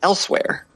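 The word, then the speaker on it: Elsweyr: But it's just pronounced Elsewhere.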